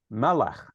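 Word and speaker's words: מלך: So, for example, you know the word for king, it's melech, accent on the first syllable.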